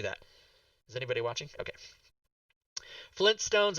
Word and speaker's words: Flintstones: Flintstones is spelled with two T's. It's not Flynn Stones, it's Flint Stones.